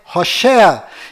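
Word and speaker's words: הושע: mudou para Josué mas a pronúncia correta de Oséias é hosa e quando Moisés mudou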